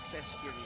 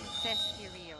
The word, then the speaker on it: Sesc: Rexa Rexona Cesio. Cesio. Yes. Although it's spelled as s e s c.